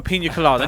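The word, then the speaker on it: piña colada: The British version, we just say pina colada. But the actual Spanish, you have to pronounce it Pina colada. Because you've got the Enya letter. Yes. That's I only learned that recently. It's the N with the little S, sideways S above it.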